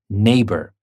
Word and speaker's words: neighbor: NE e i GH but the g is silent and we say neighbor and in rain we